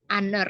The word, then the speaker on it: honor: dengan en dibandingkan karena saat pengucapan kata honor ini lebih terdengar seperti huruf vokal karenanya lebih menggunakan pen